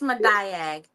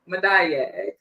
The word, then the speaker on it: Madayag: It's Madayag. Madayag.